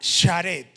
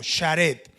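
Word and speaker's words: שרת: Siervo, el término siervo en el antiguo hebreo se pronunciaba sharet, en el antiguo hebreo, sharet, y significaba esclavo o ministro.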